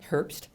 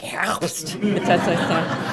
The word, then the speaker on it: Herbst: And I always feel as though fall, Herbst, it's not the way you pronounce it. Really. Any German speakers, it's more like Herbst.